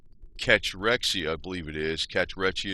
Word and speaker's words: cachexia: Cachexia is how you say it.